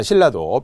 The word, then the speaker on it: 신라: 바로 기출 문제잖아요 자 신라도 표기는 니은 리을로 적었지만 우리 표준 발음법에 배웠던 것처럼 니은 리얼은 리을 리을로 바뀐다는게 유음화 있잖아요 그래서 유음화의 사례들 신라가